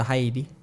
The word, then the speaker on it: Haiti: where they go to Haiti they go to they go to haidi they're financing yeah that's the proper pronunciation so they go yeah